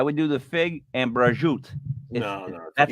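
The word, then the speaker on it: prosciutto: salads flatbread I would do the Fig and brajoot that's how it's pronounced it's delicious I know Pursuit I know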